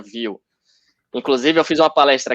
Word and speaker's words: Vue: É Thiago, view, exatamente. É view é uma palavra francesa, né? Que pronuncia view.